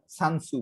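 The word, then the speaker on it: Sun Tzu: যে ধরো এই যে ফার্স্ট সেঞ্চুরিতে তোমার চাইনিজ এক ম্যাথমেটিশিয়ান যে সানসু বলো, টি উচ্চারণ করে না ওরা, সানসু, এই যে একটা প্রশ্ন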